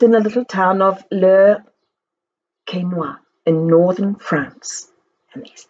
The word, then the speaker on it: Le Quesnoy: I lived in the little town of Le Quesnoy in northern France. And there's the little girl. Its name is pronounced Le Quesnoy.